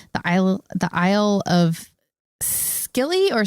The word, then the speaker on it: Scilly: The island it was found on is called the Isle of Scilly or Silly, Scilly.